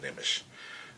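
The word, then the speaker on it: Nmesh: I can pronounce it Nimish.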